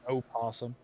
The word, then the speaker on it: opossum: it could just play oh possum you just put the did you just pronounce the o and possum look there's opossum and possums there's two different creatures i don't think you're